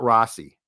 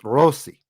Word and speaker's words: Rossi: It's not Rossi. It's Rossi. It's Rossi. Yeah, and roll the R, which I can't.